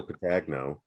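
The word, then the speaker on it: Petagno: awesome because it's uh joe patagno that's how you say his name the guy motorhead guy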